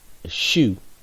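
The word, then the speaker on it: Shu: seven is hot are eight is taught nine shoe that's sh you ten is associated with Osiris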